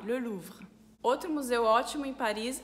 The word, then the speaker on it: Louvre: Na palavra Louvre, a gente tem o U, que é o som de U, e depois tem o R, só que como está no final da palavra, a gente fala mais suave, Le Louvre.